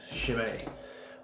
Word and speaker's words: Chimay: it was the official shimei YouTube account and not just some snotty guy trying to have like he's printing a proper on YouTube I decided that was the official pronunciation Chimay they're from Belgium I